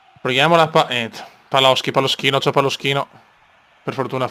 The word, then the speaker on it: Paloschi: Paloschi, Alberto Paloschi, proprio in pronuncia inglese.